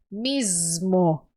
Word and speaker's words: mismo: perjudicándose, di, a sí mismo. Bien, e aqui você tinha que ter cuidado com essa letra S, porque você pode ter a tentação de transformar em letra Z. Mismo. Se dice así mismo.